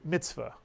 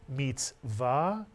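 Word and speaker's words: מצוות: meets var you'll hear people say mitzvot but the actual pronunciation is Sephardic Hebrew is meets vow and it means commandment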